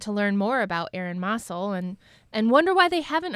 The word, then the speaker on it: Mossell: So we're choosing to pronounce the name Mossell as the family does.